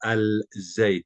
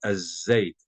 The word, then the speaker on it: aceite: Si se dan cuenta, no estoy pronunciando la L del artículo. No digo al-zait, digo azeit, azeit. Salto de la A a la Z.